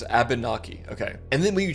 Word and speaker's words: Abnaki: Also, I hope I pronounced that right, dude. I I don't want to mispronounce a native like name. It's Abnaki.